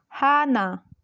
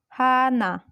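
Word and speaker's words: 하나: in the first position so it will be pronounced as Hana Hana another rule is when he earth is placed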